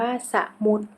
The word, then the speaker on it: สมุด: ว่า มูก ข้อ 10 คำ ว่า สมุด อ่าน ว่า สมุต ข้อ 11 คำ ว่า